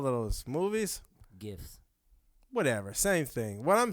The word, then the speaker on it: GIF: GIFs. Whatever. Same thing. What I'm saying is, it would have been. It's pronounced GIFs.